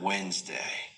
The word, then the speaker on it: Wednesday: Take the word Wednesday. Many learners pronounce every letter because they learned it visually, but listening reveals the real pronunciation.